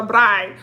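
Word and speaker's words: braai: me was about the bride okay they call it a bride we said barbecue or cookout they call it a bride i think it's spelled b-r-a-a-i so they was like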